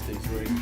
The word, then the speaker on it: Diesoline: And I Johnny, wonder if that is the actual pronunciation. It is, it's Diesoline.